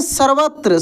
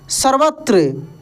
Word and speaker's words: सर्वत्र: तो जंगल में सर्वत्र देखिए कैसे पढ़ेंगे सर्वत्र स व के ऊपर